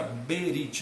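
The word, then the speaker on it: ברית: Mas o B é mudo, então fica Berit, no fim não lê como o brasileiro Brit, lê Berit, ok?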